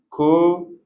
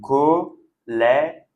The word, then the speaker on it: collège: Donc, c'est comme pour le mot père. Vous voyez, on a le E accent grave qui se prononce est et le E à la fin, on ne prononce pas de la même façon. Donc, collège.